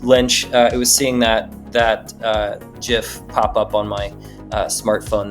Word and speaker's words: GIF: It's pronounced GIF, not GIF. And I will go to my grave saying this is GIF. It is GIF. GIF, goddammit. Even the creator of it calls it GIF.